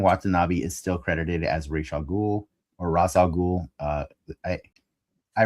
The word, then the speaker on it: Ra's al Ghul: the Animated Series had decided that they must have done research to learn the appropriate way to pronounce the name as Ra's al Ghul. And then this is the first time that character has ever been referenced in a movie out, and it was kind of weird to hear his name be pronounced Ra's al Ghul. It sounds very Western, like the way, like your paper.